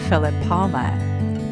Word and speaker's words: Filippova: I know it's hard to pronounce the Russian last names. It's Filippova.